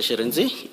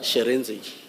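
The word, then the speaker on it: Shirintzi: Sharenzi. Initial what? Sharenzi.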